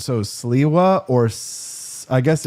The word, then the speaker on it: Sliwa: It is Sliwa.